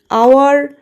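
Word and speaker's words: hour: তো সেক্ষেত্রে কি হচ্ছে, এই আওয়ারের এইচটা কিন্তু উজ্জ্ব থাকছে বা এইচটা মিউট থাকছে। আমরা কিন্তু এইচটা প্রোনাউন্স করছি না, আমরা আওয়ার প্রোনাউন্স করছি, যার জন্য এটা প্রোনাউন্সিয়েশন ভাওয়েলের মতো হচ্ছে, এই জন্যই এর সামনে অ্যান বসছে।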